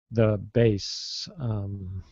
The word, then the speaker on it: bass: Like, he plays the bass guitar. Yeah, and it's spelled B-A-S-S, so that's where it gets confusing. But it's only for the musical instrument.